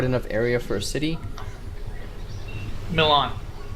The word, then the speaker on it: Milan: area for a city milan that's how that's pronounced that's how i passed it he said mylon it's milan no i said my